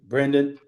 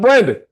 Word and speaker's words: Brendan: Brendan. First of all, I want to thank you, Charlie, for saying my name correctly. I've known your behind for a very long time. I'm not Brandon.